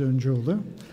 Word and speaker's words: Öncüoğlu: Hi, my name is Öncüoğlu. The right pronunciation is Öncüoğlu.